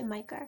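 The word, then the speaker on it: Myka: My main one that I want is Love Lives Here by Micah Jelena, or Mika Jelena. I'm pretty sure most people say Micah, so I'm going with that. But it's spelled M-Y-K-A.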